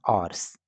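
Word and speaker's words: hours: आवर्स घंटों तक हंसे यहां पर एज साइलेंट है इसको पढ़ेंगे हम आवर्स एंड रिवार्डेड तेनाली और उन्होंने तेनाली को इनाम दिया विद 100 गोल्ड कॉइंस।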